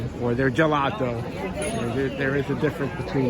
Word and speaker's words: gelato: So G A gate G E gelato has that J sound G before the E gelato.